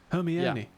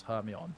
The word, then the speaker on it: Hermione: like, it's like fantasy, and the names are pronounced entirely Hermione, differently from how you famously. imagined? Hermione, of course.